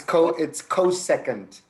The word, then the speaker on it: cosecant: It's cosecant.